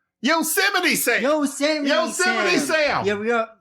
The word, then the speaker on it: Yosemite Sam: You're not saying it right. It is something Sam. Yosemite Sam.